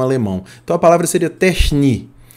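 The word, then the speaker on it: τέχνη: A pronúncia disso seria techni, né, com CH assim puxado, que é essa letra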